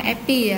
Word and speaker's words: API: atau disingkat api Happy bilangnya Epi ya bacanya Epi Epi e11 perangkat lunak yang